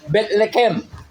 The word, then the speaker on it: Bethlehem: Alam natin Bethlehem pero sa salitang Hebreo, Bethlehem. Yun ang totoong pronunciation noon. Okay.